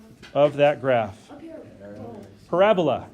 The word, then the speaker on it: parabola: name of that graph parabola is the way you say that parabola parabola parabola so you you put emphasis on the second a so it's not a parabola parabola sounds like some